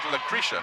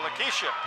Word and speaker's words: Lakeisha: Well, I thought you said Lucretia. No, Lakeisha. Lakeisha Fret.